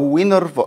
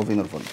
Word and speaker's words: Wienerwald: مطعم النهاردة اسمه فينر فولد أو وينر فولد، مش عارف إيه ده؟ اسمه إيه؟ فينر فولد أه هو فينر فولد. لو جيت قرأتها بالإنجليزي هتلاقيها وينر وولد بس الدبليو دي بتتنطق في.